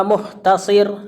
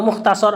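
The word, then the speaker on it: مختصر: Wa muhtasir, ada yang atau muhtasar afwan.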